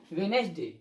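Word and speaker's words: Wednesday: ये D silent है, क्या होता है, वेडनेसडे, क्या होता है, वेडनेसडे, हैंडसम, सैंडविच।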